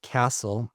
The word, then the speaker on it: CSTL: Now if you spell that out it's CSTL which is pronounced castle and the significance of that will become apparent in a few minutes.